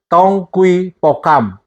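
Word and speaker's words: 동의보감: koi itu bahasa Korea yang kalau ditulis dalam Latinnya dong GUI bogam tapi dibacanya adalah tongkui pokam yang dibuat pada zaman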